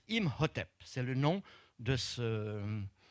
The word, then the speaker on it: Imhotep: hôtel avec un pain dessus ce qui se prononce imhotep c'est le nom de ceux de ce brave